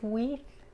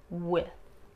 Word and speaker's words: with: Y la I en with es corta, no es I, no es with, es with, with.